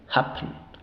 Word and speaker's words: happen: es la sílaba débil cuando una vocal se encuentra una sílaba débil en este caso pen la e se reduce a un sha O sea no decimos pen así no se ru un es e haen happen happen happen Okay pero las dos